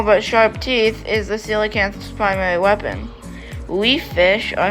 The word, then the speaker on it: coelacanth: The coelacanth, pronounced coelacanth, was known only from fossil remains and was thought to have been extinct for 70 million years.